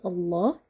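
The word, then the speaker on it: الله: letter wow has right so letter Lam in the word Allah is gonna be heavy we never say someone says right Le is a light sound which is not applied here which is not pronounced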